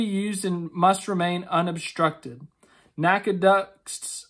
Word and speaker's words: NACA: and must remain unobstructed NACA ducts I don't know if you're actually supposed to say it or like spell it out but I'm gonna say NACA because it's easier our single source of